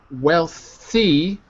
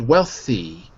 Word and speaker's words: wealthy: thing the Y epsilon the y at the end of the word must always be pronounced in english as an e so not wealth but wealthy and if it's a